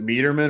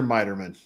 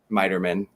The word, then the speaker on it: Miterman: Is it Meterman or Miterman? Miterman. Okay. Miterman.